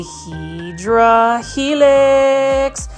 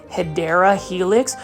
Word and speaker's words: Hedera helix: here PL foldies I just picked up a hedra helix and as you can see right here beautiful